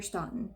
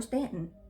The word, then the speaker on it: Staunton: in augusta county virginia near staunton or stanton however you want to pronounce it he was born around